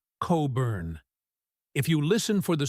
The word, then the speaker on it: Cockburn: It might be pronounced Coburn.